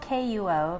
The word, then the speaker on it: Kuo: I often say it's like status quo, but with a K. Okay, like that, yeah, status quo. In Mandarin it would be Guo, but the English pronunciation is Kuo.